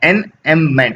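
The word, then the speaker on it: enjambment: ये जे जो है ना, ये साइलेंट होता है, इसलिए उसको पढ़ते हैं एनएममेंट या एनियममेंट, ठीक है।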